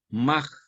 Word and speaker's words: Mach: de la relatividad, es Mach. Ernest Mach, que se escribe Mach con Che. Esa Che, final de sílaba, en alemán suena como J. Mach.